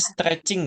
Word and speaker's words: stretching: yang kita kita itu bacanya stretching ya bukan strenging Iya stretching kudunya guys stretching kan Kalian